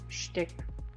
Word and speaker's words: shtick: The real question to any Americans here, since it's the is it a meme or has any background that you're pronouncing it shtick? That's a Yiddish thing.